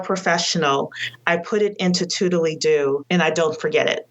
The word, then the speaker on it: Toodledo: So I use a task manager called Toodly-Doo. Nice. So I'll spell that for everybody.